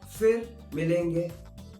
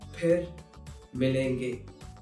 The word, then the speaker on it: फिर मिलेंगे: So, most of the times, people will use f instead of its right pronunciation, which is ph. So, if you hear someone saying fir milenge, that is incorrect. The correct pronunciation is phir milenge.